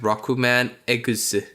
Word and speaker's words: Rockman EXE: And if it's pronounced Rokuman Eguse.